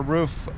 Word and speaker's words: RUF: now for the viewers I always thought when I was a kid it was a roof Porsche you're calling it rough what's the proper way to say it does does it really matter yeah roof is the same roof is the same